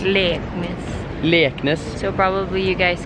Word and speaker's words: Leknes: SIS to Bodø and then fly over to Leknes.